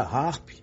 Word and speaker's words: HAARP: o título do livro A palavra harp e Harpa no inglês americano possuem pronúncias similares assim quando se fala